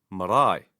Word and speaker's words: marae: If there is no long vowel, stress the first diphthong, two different vowels together. For example, I, as in marae. Hear how the stress is on the diphthong marae.